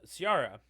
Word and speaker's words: Ciara: So now jumping back up to Ciara. Am I pronouncing that right? Kiera. Kiera, like a key for a Yeah, lock. Kiera.